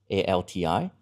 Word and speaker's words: ALTI: And I'm very proud of the team we affectionately call ALTI, A-L-T-I. So let me pronounce that correctly with my accent.